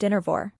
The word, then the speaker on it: Dynevor: It's true, laughs Dynevor, pronounced Dynevor.